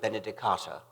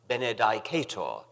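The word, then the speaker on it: Benedicatur: Benedicat and after Benedicto Benedicata. I was one of the majority who pronounced this last word, Benedicata. Some of the older, classically trained fellows pronounced it Benedicator, which fascinated me, although I never dared follow them.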